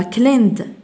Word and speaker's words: cleaned: cleaned نضيف هنا y stayed قلنا ثم cleaned cleaned وكأن الإي غير موجودة لا تنطق cleaned stayed stayed.